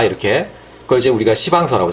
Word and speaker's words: 시방서: 그런 것들은 꼼꼼하게 다 이렇게, 그걸 이제 우리가 시방서라고, 시방서. 발음을 좀 이상하게 너무 세게 하면 안 돼요.